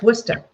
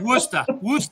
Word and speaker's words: Worcester: It's spelled Worcester. That's Worcester. Exactly. It's Worcester, Mass.